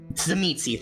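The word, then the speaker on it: Tzimisce: Zamitzi, thank you. I forgot how to pronounce it.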